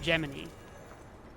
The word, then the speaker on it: Gemini: well, first of all, why is he spelled Gemini pronounced Geminy?